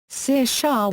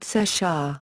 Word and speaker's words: Saoirse: On her name, she said, "Saoirse is how Irish people pronounce my first name, but I would pronounce it Saoirse, like inertia. It's Irish for freedom.